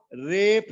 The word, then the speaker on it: रेफ: उच्चारण करने में थोड़ा समय लगाना, फा फलका बोलना है, और फा फलका यदि आपके मुख से उच्चारित नहीं हुआ और आपने पतंग का पा बोल दिया तो उसका अर्थ दूसरा होता है और इसका अर्थ दूसरा होता है।